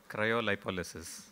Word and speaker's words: cryolipolysis: said cryolipolysis there is actually a far cleaner pronunciation which i'm going to have the gentleman tell you cryolipolysis yeah that's the one so basically what is